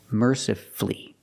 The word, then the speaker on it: mercifully: words powerfully and mercifully again you have two syllables before f l l y and the stress is on the first syllable so the U is silent power flee merci flee and then we have